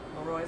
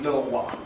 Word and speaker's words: le roi: So just for the students, so it's that guy who's spelled like Leroy. Leroy, do you remember if you remember that from class?